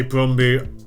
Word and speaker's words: Brøndby: start with this beautiful brombucha I say brown boot that's slightly closer to the pronunciation as I learned when